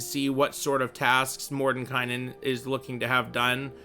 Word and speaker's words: Mordenkainen: for uh for tasks mordenkainen is uh by the way other people pronounce it more than kanan i'm gonna say whatever